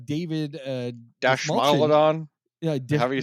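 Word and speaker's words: Dastmalchian: David Dashmalchian. Yeah, however you say his name. Dismalchian. That's how you pronounce it.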